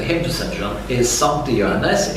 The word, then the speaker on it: Sancte: John is Sancte Johannes. It is not si, it's sa.